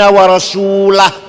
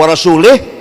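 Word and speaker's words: وَرَسُولُهُ: Bacanya wa rasulah. Kalau wa rasulih, Allah tidak melindungi orang musyrik dan tidak melindungi Rasulullah. Tapi kalau wa rasulah, Allah dan Rasulullah.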